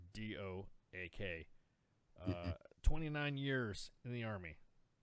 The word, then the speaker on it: Doak: So his name is Colonel Retired Robert Doak, spelled like oak but with a D in front of it. Doak.